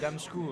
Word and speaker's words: D4MSZCZKU: Alors, avant que s'énerve, prononce son pseudo pour moi. C'est, c'est ça? Damskou, ouais. Ah, tu vois? C'est pas compliqué, hein.